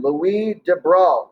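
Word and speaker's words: Louis de Broglie: the unit a frenchman louise de bruyne looks like the probably but it's french and i don't take french but i'm pretty sure that's how you pronounce it but we de bro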